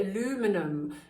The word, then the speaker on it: aluminum: the pigment a lovely aluminium or as american say aluminum but we have a different spelling if you ever look